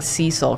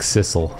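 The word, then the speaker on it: Sissel: is not Cil it's sisle it's sisle yeah I keep saying Cil cuz I want it to be Cil it's not it's got two s's yeah classic sisle sorry take me back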